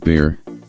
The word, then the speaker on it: Bar: I was growing up often shortened to Bar pronounced bear there are people in